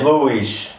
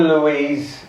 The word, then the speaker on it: Luiz: Luiz. There you go. Right. Because if you call me Louise, you're saying that I've got a lady's name.